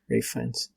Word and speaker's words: Ralph Fiennes: It was directed by Ralph Fiennes, right? That's how you say his name. Rafe. Ralph Fiennes. Rafe Fiennes.